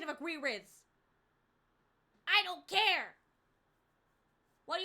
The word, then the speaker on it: Aguirre: In Spanish, it is said as Aguirre. Aguirre.